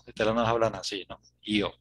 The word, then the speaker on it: yo: No, es yo. Yo, Porque aprendí yo, ese IO parece italiano, ¿no? sí. Yo, ustedes no hablan así, ¿no? Yo.